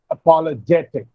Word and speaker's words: apologetic: So the stress will be on J. Apologetic, biological, pathetic.